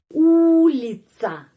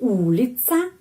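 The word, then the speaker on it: улица: Lagi ya di sini, pengucapannya di sini karena itu A. Gorada, gorada. Terus ulica.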